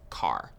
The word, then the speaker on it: char: Chars. So, chars are used for variables that will store single characters. Char, short for character. And sometimes you might hear people pronounce it as car.